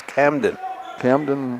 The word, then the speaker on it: Camden: Not Kaden. It's Camden.